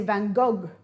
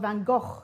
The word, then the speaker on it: Van Gogh: painted by van gogh gh is pronounced go in french people say van gogh or in dutch it's called van gogh and hebrew two it's